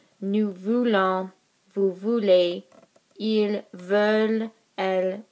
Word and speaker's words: veulent: Nous voulons, vous voulez, ils veulent, elles veulent. We don't pronounce the ENT here.